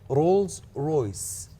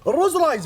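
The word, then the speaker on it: Rolls-Royce: طبعا يا جماعه النطق الصحيح للشركه رولز رويس، حلو، بس احنا شنو نسميها؟ الروز رايز.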